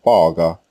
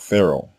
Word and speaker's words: Pharaoh: masha's name nor the Egyptian word Fara which is the correct way to say this word an Egyptian not Pharaoh now modern Scholars have